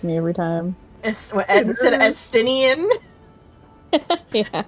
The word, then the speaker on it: Estinian: Instead of Estinian? Yeah. Estinine.